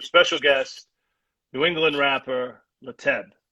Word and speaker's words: Lateb: are speaking with special guest new england rapper leteb not late be late that's how it's pronounced yes that name is that name you're